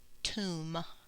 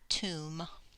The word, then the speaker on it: tomb: definition is pretty short this is only a one syllable word it only has one vowel though oh and it's pronounced toom toom in a tomb is